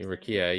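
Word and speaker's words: Rukiya: Mbenga and Rukia, right? That's how you say her name? Is that right? Right, Rukia, yeah.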